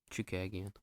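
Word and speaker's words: Chookagian: one, Chikagian or Chukagian. Aldana? All right. Yeah, Chukagian.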